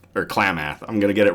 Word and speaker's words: Klamath: to pronounce Klamath or Klamath. I'm going to get it wrong every time. Oh, cookie. Sorry, I thought I heard Sue clacking about in there. Muth on the end, so it's like Klamath.